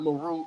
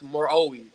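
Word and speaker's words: Meroë: just I just did the pronunciation is not Maru it's maroi Moi that's what it's called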